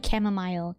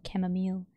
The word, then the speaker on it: chamomile: You pronounce it as mile. Chamomile. Chamomile.